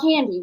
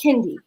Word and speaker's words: Kendi: And I was like, okay, the next one of y'all that calls my child Candy, we're going to have a problem. Her name is Kendi.